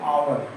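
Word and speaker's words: hour: लेकिन इसका सबसे आसान तरीका ये है कि जैसे हम एच ओ यू आर लिखते हैं जब इसका प्रोनाउंसिएशन करते हैं। प्रोनाउंसिएशन बोलते हैं इस वर्ड को तो हम क्या बोलते हैं? आवर आ बोलते हैं।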